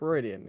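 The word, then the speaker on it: Riordan: that author oh Rick reian I'll just say his name it was in fact that author Rick it's pronounced differently right it's pronounced someone somewhat silly rean all right I've I've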